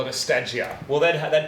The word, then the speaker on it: Stagea: I'm pretty sure it's Stage A. Stage A. Stage A. Stage A. That's what I've... Not Stage E as far as we know, but Stagea.